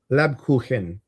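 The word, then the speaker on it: Lebkuchen: Lab kuhen. Khen. Kuhen. Khen means cake.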